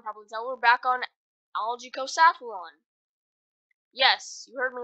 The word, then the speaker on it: Algicosathlon: tell we're back on algae Coast Athlon Yes you heard me right I was actually pronouncing it wrong it's not algaecost one it's algaeco saffron mime is bad I